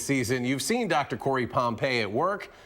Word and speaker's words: Pompey: is it Pompeii or pumpy how do you say your last name I say Pompeii but I've I'm so accustomed to hearing it both ways that I don't even say anything when I hear it well well that's